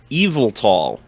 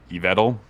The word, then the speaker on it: Yveltal: a name that my mouth does not like pronouncing, Eviltall. I'm just realizing now it's the first time I've ever heard anyone say this Pokemon's name. I've always pronounced it Yveltal, but I think there's Yvel, maybe Yveltal.